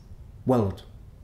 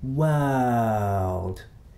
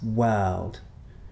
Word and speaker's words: world: Notice that it's a very long vowel. So we don't say this, world. It's world.